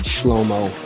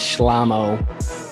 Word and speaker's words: Shlamo: Okay, I got the hundreds of emails and Facebook messages from our fans that I mispronounced when I said the last episode when I said Shlomo, and it is Shlamo.